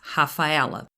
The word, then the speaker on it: Rafaela: i'm from brazil and we pronounce initial rs as a hard age so my official name is rafaela i got married when